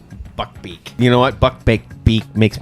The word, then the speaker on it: Buckbeak: Yeah, Buckbeak. It's Buckbeak.